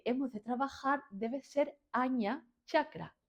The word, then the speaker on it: Ajna: con el que hemos de trabajar debe ser aña chakra. Agna se escribe, ¿vale? Pero se pronuncia agia, aña, una cosa así como rara y no es agna, pero bueno, da igual, ¿no?